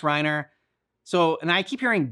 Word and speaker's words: Reiner: Like it's spelled Reiner, so I'm like, okay, Reiner, like, and that's how I would say it. But now that there's like, I hear them saying Rhina, so that's why I'm